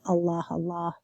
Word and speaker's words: Allah: I pronounced it very formally, because it's capitalized, so a formal, proper noun. So I said Allah, but usually in the